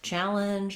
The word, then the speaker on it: challenge: Then we have, so that vowel, that syllable is long, challenge, and then the linge syllable is short. You can hear I'm almost saying it without any vowel at all in the second syllable.